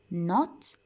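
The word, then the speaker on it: know: Always if the words start with K followed with N, that means the K is silent.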